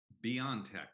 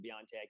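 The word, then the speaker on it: BioNTech: saw the little mystery in my brain greg beyond tech that's how you pronounce it you know they're different ways of pronouncing it even internally they're pronounced differently but yes that's why i pronounce it beyond tech you can't go wrong that way it's like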